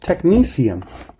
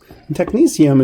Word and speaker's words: technetium: kind of funky and hard to say it's pronounced technetium technetium is one of the first sort of synthetic